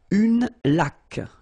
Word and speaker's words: laque: Une laque. Remember the rule when you get this QU, well, U is not pronounced, so you get k like that.